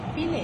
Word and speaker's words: fillet: পাটাকে বলে চিকেন ফিলে। FILLET লেখার সময় ফিলেট, উচ্চারণে ফিলে। এটা ফ্রেঞ্চ ওয়ার্ড।